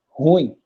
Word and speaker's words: ruim: Então, tanto quando você pronuncia a palavra da maneira correta, você pronuncia ela como sendo uma, aqui, ó, uma oxítona. Então, você vai pronunciar como sendo ruim. Esse U se destaca muito mais do que o I, porque o U é a vogal tônica.